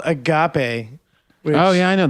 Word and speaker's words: agape: not going to join dude agap is how you say it but um so that's